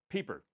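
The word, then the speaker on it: Pieper: And Joseph Piper, I forget how to pronounce the name, great philosopher, he wrote a book called Leisure, the Basis of Civilization. Piper, yes.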